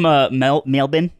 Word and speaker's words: Melbourne: So wait, you're from Melbourne?